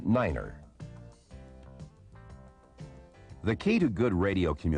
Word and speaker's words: niner: 9 is the only number pronounced differently. It is said as niner.